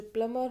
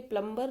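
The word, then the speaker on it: plumber: अ प्लमर्स house always leaks, जो प्लमर होते हैं, देखिए ये प्लम्बर नहीं होता है, प्लमर होता है, बी विल बी साइलेंट।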